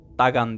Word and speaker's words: Dagon: Filistinlilerin ana Tanrısı olan Dagon dagan diye okunuyormuş dagan Ortadoğu'da Kadim bereket ve